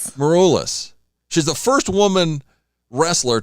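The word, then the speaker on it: Maroulis: How do you pronounce her last name? Morulus. Morulus.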